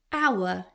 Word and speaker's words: hour: It takes an hour, silent H again.